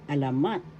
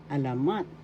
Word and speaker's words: alamat: is legend in English alamat first syllable a second syllable la and third syllable mat the accent is in the third syllable alamat alamat legend in the sixth one